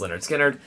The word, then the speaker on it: Lynyrd Skynyrd: long as the vinyl will play Lynyrd Skynyrd pronounced Lynyrd Skynyrd it was it was a cool fine just